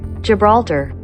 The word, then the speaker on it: Gibraltar: Park rebeltar is that how you say it Gibraltar we're under attack by a group of orcas